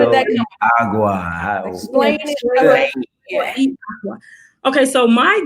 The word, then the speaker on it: Agua: business as Fuego y Agua. So I used the Spanish word fuego and then English word aqua, which is gotcha. Aqua. Yes. Gotcha. Still means water. But you still say it like agua.